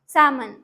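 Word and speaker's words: salmon: क्रिलला खाणारा कोण होता सामन सामनला खाणारा tuna सालमन अशी स्पेलिंग असते एस ए एल एम ओ एन पण सॅमन म्हणतात वाटतं त्याला प्रोनाउन्सिएशन ओके तर काही शब्दांचे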